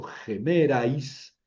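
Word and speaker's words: ἡμέραις: En gemeras, porque es espíritu rudo, pronuncio gemerais, aquí otro diptongo, pero el acento está sobre la épsilon.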